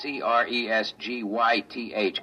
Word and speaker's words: Cresgyth: He wants us to record it instead as um Well, I'll I'll spell it. It's c r e s g y t h, Cresgyth.